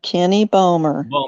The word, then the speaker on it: Balmer: the chat room is it's balmer it's pronounced kenny bowmer okay thank you is